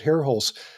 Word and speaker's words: Herholz: comic book, and Brett Hairholz. Just look for the man on social media. That last name is spelled Herholz, and anyway, he's a buddy of mine, and he's drawn some.